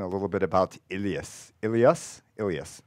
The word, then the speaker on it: ileus: Ileus. How do you pronounce it?